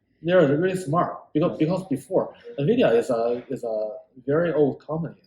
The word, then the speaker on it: NVIDIA: So today I learned something how to pronounce this company name. NVIDIA.